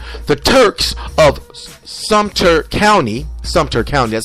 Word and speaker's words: Sumter: again into slavery the Turks of Sumter County Suter County that's how it's pronounced were uh were either Pirates or escaped